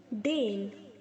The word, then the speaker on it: deign: डेन, बच्चों हम इसको डेन बोलेंगे, DAN प्रोनाउंस करेंगे, स्पेलिंग इसकी DEIGN है, लेकिन अगर हम इसे प्रोनाउंस करेंगे तो DAN बोलेंगे, डेन, ओके।